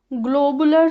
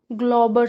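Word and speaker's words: Glauber: हो गई क्या है ग्लोबर सॉल्ट है ग्लोबुलर वो दिमाग में कुछ होगा तो क्या है ग्लोबर सॉल्ट है जी एल ए यू बी ई आर ग्लोबर salt ठीक है ध्यान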